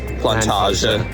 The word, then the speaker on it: Plantage: Vì vậy, chúng tôi hiện đang đi bộ từ trung tâm Amsterdam tới một khu vực, chúng tôi nghĩ nó được gọi hoặc phát âm là plan-tah-jeh.